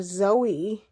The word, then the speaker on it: Zoey: as though z-o-e or Zoe I pronounce it as Zoe and I spell it z o e y so she is Zoe